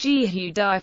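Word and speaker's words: יהודי: The Hebrew word for Jew, ISO 259-3 UD, is pronounced Yehudai with the stress on the final syllable, in Israeli Hebrew.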